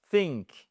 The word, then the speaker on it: think: Think exactly the, c'est pas feu, mais c'est think. Et en fait ce th déjà que c'est assez assez difficile pour nous de le prononcer correctement francophone.